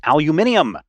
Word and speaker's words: aluminium: And then when you go out and other people are like, no, it's pronounced aluminium, then you really figure out the correct way.